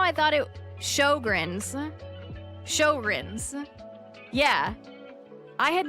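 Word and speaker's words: Sjögren's: Shogrins.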